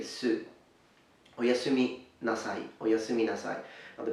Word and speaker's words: oyasumi nasai: Now please note that the U in Japanese is a very closed sound, closer perhaps to German or French, so you have this U sound, okay? So you say su, su, su.